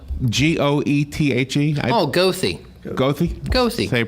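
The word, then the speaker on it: Goethe: Western Marion County what's it called g-o-e-t-h-e oh ghosty ghosty ghosty so you pronounce it yeah okay and I didn't know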